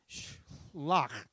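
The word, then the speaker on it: שלח: Shlach is how you pronounce it.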